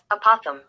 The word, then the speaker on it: opossum: Opossum.